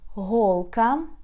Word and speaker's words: голка: Голка, needle.